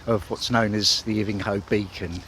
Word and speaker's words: Ivinghoe: Or Ivinghoe, as I now know it's pronounced.